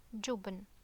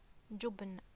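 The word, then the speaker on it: جبن: And a dhamma above, so it's pronounced like jubn, jubn.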